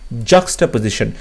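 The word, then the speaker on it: juxtaposition: এখানে দেখো যে জাস্টা পজিশন, জাস্টা, জাস্টা নয় জাক্সটা, ওকে জসটা আছে এখানে, এটাও ভুল হচ্ছে, জ্যাক্সটা আছে, জ্যাক্স, জ্যাক্স নয় জাক্সটা পজিশন।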